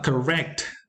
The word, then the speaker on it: correct: Correct takes the stress on the second syllable and not on the first one.